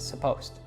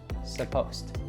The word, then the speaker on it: supposed: And a lot of learners see this word and they think that it's supposed to be 3 syllables. In fact, we reduce it a lot. So the first syllable is just a schwa, sa, and the ed there is following an S, so it becomes a T sound. So it's just supposed, supposed.